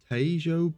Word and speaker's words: Tejo: neutral training port in the Tejo Bay. That's how you pronounce it.